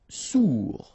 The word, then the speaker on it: sourd: Sourd. Final D not pronounced. O-U together. Ou sourd.